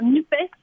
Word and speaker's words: NUPES: Finalement, j'ai décidé de dire NUPES pour qu'on NUPES. entende le E de l'écologie et le S de social.